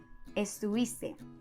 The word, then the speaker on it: estuviste: The correct and more common way to say this is estuviste. Esos cuates means those guys.